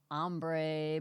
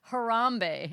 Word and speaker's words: Harambe: the gorilla and I thought it was an ombre but it was hbre no hbre hbre harambe harambe we were so far off and I